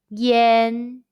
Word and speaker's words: ian: thousand in chinese question when you see y-a-n and i-a-n in ping-ing how would you pronounce it the answer is yen are there any topics